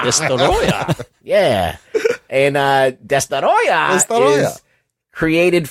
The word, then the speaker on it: Destoroyah: If you pronounce it the way it's phonetically spelled. Good pronunciation. Destoroyah. Destoroyah.